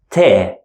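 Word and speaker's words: ت: two dots on top and we pronounce it te normal T sound in English te and the last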